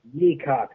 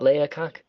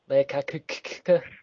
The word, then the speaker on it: Leacock: It is Leacock. The A is silent. Damn it. It's not Leacock? No. Leacock.